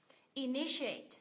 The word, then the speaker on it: initiate: Initiate, nhấn âm tiết thứ hai phải không chị? Initiate, 4 âm tiết, nhấn âm tiết thứ hai em ạ.